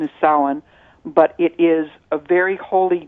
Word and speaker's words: Samhain: si ma che I M so if you pronounce it Samhain really off on that it's pronunciation is sullen it is a very holy day it's the